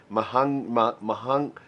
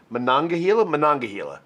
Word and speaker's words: Monongahela: I know I said it wrong. Somebody's going to call me on it. I get it. Monongahela? Monongahela, I think with an N. And there is an Overholt Monongahela rye. I think I said it right that time.